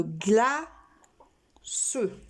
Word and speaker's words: glace: Une glace. Est-ce que dans ce cas-là, nous avons besoin de la cédille? Non, puisque c'est un C et un E et que ça fait ce.